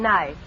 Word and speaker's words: knife: the word is nice k is the silent letter k is always silent in front of n is that no what